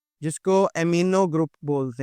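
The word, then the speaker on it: amino: इसको अमाइनो नहीं पढ़ना। यह अमीनो ग्रुप होता है।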